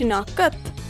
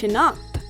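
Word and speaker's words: شناخت: Meanwhile, a word like shinakt also has two ending letters that don't have a vowel between them, but it's not pronounced shinakat, it's pronounced shinakt.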